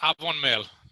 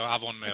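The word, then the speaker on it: Afon Mêl: Avon Mail. The F comes out a bit more like a V, so Avon Mail.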